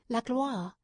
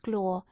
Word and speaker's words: gloire: In such ages men cherished a divine ambition, which he might call la gloire. He pronounced it glore, so that Orlando did not at first catch his meaning.